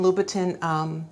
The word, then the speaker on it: Louboutin: I've heard Christian Louboutin, I've heard Christian Louboutin, and you know, it ends with T-I-N, so I just go with phonetically. It sounds like it should be Christian Louboutin, but you know what, Louboutin, red bottoms, however you want to say it, enjoy your purchase.